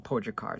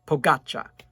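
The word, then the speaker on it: Pogačar: i'm getting it right and then pogatcha so i think i was saying pojakar so pogaccha okay so please whenever i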